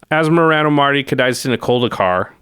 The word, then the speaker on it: Asmoranomardicadaistinaculdacar: Asmoranomardicadaistinaculdacar. We just wanted to put it on screen, something somebody put on Twitter, which is a pronunciation guide. So it's Asmoranomardicadaistina. I think of it as Daistina Culdacar. There you go.